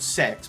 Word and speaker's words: CeX: well in this country it's called sex but it's spelled CeX Whoever thought of the